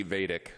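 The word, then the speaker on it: Vaidik: Correctly pronounced, Judge Nancy Vadic.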